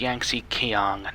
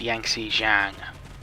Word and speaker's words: Yangtze Kiang: It's pronounced Yangtze Kiang, not Yangtze Jiang.